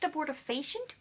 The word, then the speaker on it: abortifacient: as a board of patients yeah apparently is pronounced abortifacient oops I didn't know that I thought it